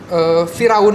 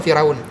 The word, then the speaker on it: Fir'aun: Kalau Firaun itu dibacanya bukan Firaun. Pharaoh. Firaun. Firaun. Bukan Firaun, tapi Fir'aun. Apa bedanya tadi dia ngomong? Firaun, bukan Firaun, tapi Fir'aun. Aun. Oh, dipisah. Fir'aun. Jadi harusnya Fir apostrofi atas Aun.